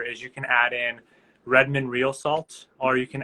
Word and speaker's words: Redmond: ask um for the Redmond how do you spell you know spell that is it like red man like the hip-hop artist like Redwood not like the hip artist um it's r-e-d-m-o-n-d it's